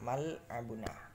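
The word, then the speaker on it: مَلْعَبُنَا: Cara membacanya adalah mal'abuna, seperti huruf L dalam huruf ini abjad ya.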